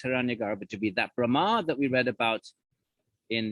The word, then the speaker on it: Brahma: celestials remember we had Brahma with a long a is the first of